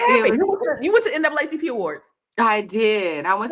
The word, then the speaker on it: NAACP: that no more it's supposed to be n aacp oh that's the proper way okay yes that's a proper way to say it uh but you know